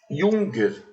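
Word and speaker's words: Jürgen: o junger habermas Né o nome dele se escreve j u r g e n é junger mas como provavelmente ele é Sueco e tem o trema em cima do U Então é junger habermans gente esse pessoal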